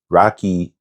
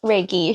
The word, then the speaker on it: Reiki: a forensic social worker, a yoga instructor, a Rocky professor. I want you to say cuz I know I said it wrong. Raiki.